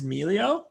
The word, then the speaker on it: Melio: melio or emilio so i tend to say melio but i think officially it is melio either way works i might even say